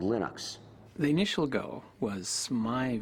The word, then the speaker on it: Linux: Um, when I speak Swedish, it's Linus. When I speak Finnish, it's Linus. When I speak English, it's Lionus. And I really don't care how people pronounce my name, but Linux is always Linux.